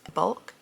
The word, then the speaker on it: Bulq: Then there is Bulk, B-U-L-Q.